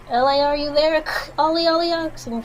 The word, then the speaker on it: Elay: My name is Elay, pronounced like Elay like the city.